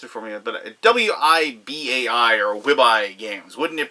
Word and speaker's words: Wibai: It is Transylvania Curses and Traitors from, they pronounced it for me, but W-I-B-A-I or Wibai Games.